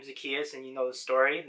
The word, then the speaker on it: Zacchaeus: say this for me i've had a natural tendency to say zacchaeus but it's really zacchaeus um but yeah you